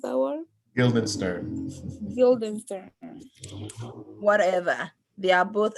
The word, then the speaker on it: Guildenstern: Okay, Rosencrantz and how do you pronounce that word? Guildenstern.